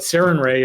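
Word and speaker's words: Sarenrae: If you misspell it, it looks like Saran Ray, which looks like Saran Wrap, which is goofy. But Saran Ray is doesn't sound like that at all.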